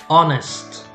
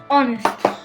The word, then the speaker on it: honest: silent okay muscle okay honest honest so usually the letter h in english we pronounce it but sometimes we don't so for example here the h is silent we don't say wholeness but honest honest should cute okay